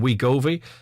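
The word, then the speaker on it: Wegovy: be very effective uh where govi uh i believe is the pronunciation of we govi uh it's w-e-g-o-v-y uh a caller says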